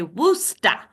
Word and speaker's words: Worcester: Where I'm from, one where I'm from in Worcester, you have to say Worcester.